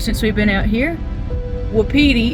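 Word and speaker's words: Wapiti: But something we've learned since we've been out here, Wediti is how you say it, and it means elk. And I don't remember which native tongue, but one of the tribes called elk witi.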